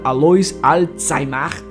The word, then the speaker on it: Alois Alzheimer: Foi em 3 de novembro de 1903, na Alemanha, que um neuropatologista, Alois Alzheimer, sim, essa é a pronúncia correta, deu uma palestra demonstrando tudo o que tinha descoberto sobre a doença.